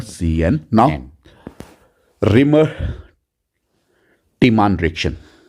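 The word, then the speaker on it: Reimer–Tiemann: Now reamer टीमान reaction, या मैं इसको प्रोनाउंस करता हूं reamer टीमान reaction, simple. Clear, otherwise it's your reamer टीमान reaction बच्चों.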